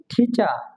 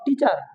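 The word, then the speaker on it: teacher: যদি ওয়ার্ডের শেষে কোনো শব্দের শেষে থাকে তাহলে আর এর উচ্চারণ হবে না, সাইলেন্ট থাকবে। যেমন টি, ই, এ, সি, এইচ, ই, আর। এখানে কি আছে টিচা, উচ্চারণ হবে কি টিচা। আমরা বলতাম টিচার, টিচার, টিচার হবে ঠি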